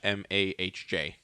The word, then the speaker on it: homage: But because it says it's hard to pronounce it, it's AA-MAHJ Homage. homage. See, Yeah. we were right. Yeah. So. Yeah, while he looks, so yeah, that's where this is coming from. Yeah. Amuj, yeah, AAMUHJ is the pronunciation.